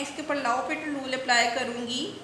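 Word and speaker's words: L'Hôpital: इस फंक्शन के ऊपर लॉपिटल रूल अप्लाई कर सकते हैं, एल, ठीक है, इसके स्पेलिंग तो हैं हॉस्पिटल के, लेकिन इसका ये रूल का है एल लॉपिटल रूल।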